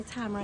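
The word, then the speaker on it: Tamora: So, Tamara Pierce, or Tamara, I guess is her real name. It's her real, is how you actually pronounce it.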